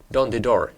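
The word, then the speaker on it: Dondydor: historical and cultural park, Dondidor. I'm sorry if I'm mispronouncing that. Don't the door. Am I right? Yes, that's right.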